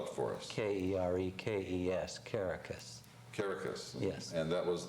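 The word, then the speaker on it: Kerekes: Spell it for us. K-E-R-E-K-E-S, Caracas.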